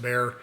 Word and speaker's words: Bexar: It looks like it's spelled Bexar, but it's pronounced Bear.